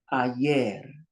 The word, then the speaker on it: ayer: Here's a word that ends in an R. That means the stress is on the end. Ayer, which is yesterday.